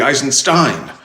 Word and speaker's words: Eisenstein: And I remember the voice teacher, told me, your last name should be Eisenstein. That's how we pronounce it in German, because our family does have German roots, obviously. So, but, I grew up knowing myself as Steen, so.